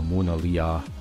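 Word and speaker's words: Monadhliath: strats Bay and the monaa hills Beyond and I paused there for a moment it's probably bad gall pronunciation sounds more like Mona Lisa as a we dip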